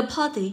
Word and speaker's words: party: Với từ party, cho ôm sẽ rơi vào âm tiết đầu, được không ạ?